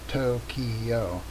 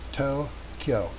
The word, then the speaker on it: Tokyo: So we are trying to get to Tokyo, and by the way, that is not a 3-syllable word. It is not Tokyo. It's 2 syllables. It's Tokyo, which is the circle, the red circle on the left.